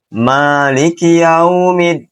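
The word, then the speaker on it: مَالِكِ يَوْمِ الدِّينِ: Maiki yaumiddin maaliki yaumiddin. Maiki yaumiddin. Maiki yaumiddin. Dan ini versi yang benar. Maliki yaumiddin.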